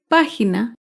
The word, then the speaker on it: página: una palabra esdrújula es página página se acentúa en la antepenúltima sílaba la página recuerda todas